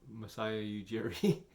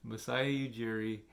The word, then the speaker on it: Masai Ujiri: Possible candidates are Masai Ujiri. Sorry, I butchered the name. Masai Ujiri.